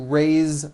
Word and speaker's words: raise: Raise, meaning like to raise my hand. Now this word is a bit unusual because even though it is spelled with an S, it's pronounced with a voiced Z.